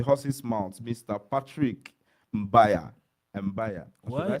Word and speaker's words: Mbaya: Mbaya. Or should Why I say are you- Mbaya?